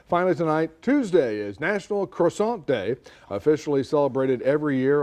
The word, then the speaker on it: croissant: You can also annoy all your friends by referring to them using the proper French pronunciation, croissant.